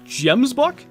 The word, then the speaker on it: gemsbok: The proper way to say it is gemsbok.